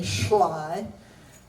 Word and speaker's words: Schley: It looks like Schley, but it isn't. We still pronounce it the old German way, Schley.